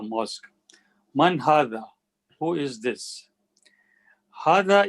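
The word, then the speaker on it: هذا: manhattan who is this hada is pronounced but it is written without the first alif arabic has no word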